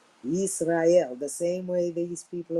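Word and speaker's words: יזרעאל: In Hebrew, that's actually, if you pronounce in Hebrew, it's Yisrael. Yisrael.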